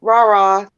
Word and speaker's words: Rara: Well, Rara, yeah, Rara's joy.